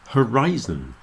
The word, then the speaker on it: horizon: the word horizon horizon with a i in the middle Horizon but horizontal you see the sound of the letter i in the middle is very different and the stress is moving Horizon horizontal horizon horizontal so those were some